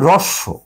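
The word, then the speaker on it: হ্রস্ব: হয় যেমন আমরা আসলে এটাকে উচ্চারণ করি এটা উচ্চারণ হচ্ছে রস আমার মনে হয় কালিটা একটা ভালো ইয়ে হচ্ছে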